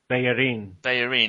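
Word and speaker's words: Bellerín: Oh, how do you say it, John? Because I try to say it the way you do. Bellerin.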